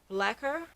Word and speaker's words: Blaquer: It's the Marc Jacobs Squid Gel Liner, Blaquer. And it's spelled like lacquer, black whore, like that.